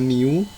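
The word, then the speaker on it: μ: tingkat kedatangan, dan simbol yang seperti U ini bacanya mu.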